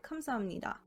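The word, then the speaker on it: 감사합니다: amnida meaning thank you if you were to pronounce it as written it would be kamsa hapnida so i'll start this one off by explaining that miam and nian are considered nasal consonants in order to maintain flow in the pronunciation instead of pronouncing biop as a hard p sound the flow is maintained by changing it to a m sound so instead of kamza hapnida you get kamsamnira now for nasal assimilation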